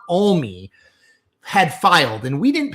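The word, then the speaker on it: Alme: Hours before and I believe the name is pronounced. I said, and someone from Montana corrected me. It's Kurt Olie had filed and we didn't pay much attention to it.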